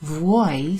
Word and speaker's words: vuoi: So instead of vuoi, vuoi sounds very much like voi. Voi, vuoi. Vuoi from volere has a V and then a U and then an O and then an I. Vuoi. But voi, as in you guys, doesn't have a U in it, so it's not got that U sound, okay?